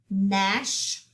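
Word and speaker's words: gnash: say them so repeat after me wreck knit nash spread stork wreath okay let's go back and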